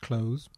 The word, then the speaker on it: clothes: to pronounce the word close but if you say it fairly quickly it sounds very similar to close as in Close the Door furniture furniture furniture consists